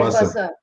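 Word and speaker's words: Bussa: Is it pronounced Buster, as in bus, the chain? Buster chains. Right, Buster.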